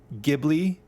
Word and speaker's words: Ghibli: Fun fact, it's the same thing with the word Ghibli, Ghibli, like Studio Ghibli, but it's technically Ghibli.